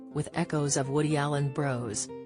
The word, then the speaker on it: Bros: Echoes of Woody Allen Bros 15 115 minutes is pronounced to rhyme with flows not floss and has nothing to do